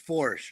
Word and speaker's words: Foersch: It's spelled like that. It's Foersch.